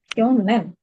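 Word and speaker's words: 去年: Oke, kanji Saru saru apa tapi ya? dibacanya jadi kyo. Kyonen. Mm-mm. Kyonen bacanya.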